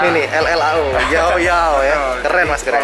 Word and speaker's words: Llao Llao: Double L, LLAO, bacanya ini nih, LLAO, yao yao ya, keren mas, keren. Kalau orang Spain, double L itu bacanya Y. Oh. Gitu, jadi yao yao.